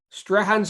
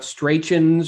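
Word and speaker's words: Strachan's: you know what stuart strahan's ice cream which is how you i learned how you pronounce it it's not straichens or i'm like you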